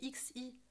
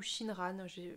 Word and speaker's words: Xinran: J'ai mis Message de mère inconnue de Shinran, je pense que ça se dit, ça s'écrit X-I-N-R-A-N, c'est du chinois et je crois que le X dit sh. Donc Xinran ou Shinran, encore une fois, si